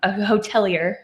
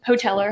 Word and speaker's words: hotelier: be a hotelier, since apparently I've been mispronouncing that word for a year. Nobody told me. Hoteler. Hotelier. Like if you work in a hotel, whatever that word is. There's an I in there.